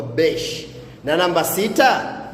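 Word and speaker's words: beş: Namba tano utamkwa besh.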